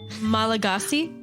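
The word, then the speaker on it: Malagasy: vomit trials what's that so how do you pronounce this word oh it's in Madagascar malagasi oh that's sounds good let's go with that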